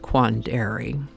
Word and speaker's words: quandary: Apparently emphasis used to be placed on the second a like quandary.